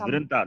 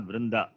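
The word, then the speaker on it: वृन्त: It is Vrinta, not Vrinda.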